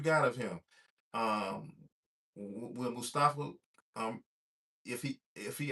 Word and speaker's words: Mustafa: Mustafa.